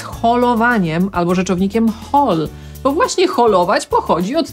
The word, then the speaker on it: haul: Brytyjczycy, Amerykanie, shopping, zapisujemy h-a-u-l. Brytyjczycy wymówią je jako haul, a Amerykanie haul. To brytyjskie u to jest tak naprawdę o, które jest trochę podobne do u, haul, ale nadal jest to o.